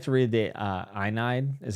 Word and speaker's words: Aeneid: I'd like to read the Aeneid, is how you say it, at some point.